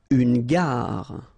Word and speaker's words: gare: Une gare. Okay, remember when you get these G and A together, the sound is g, ga, ga. Une gare, final E not pronounced. Une gare.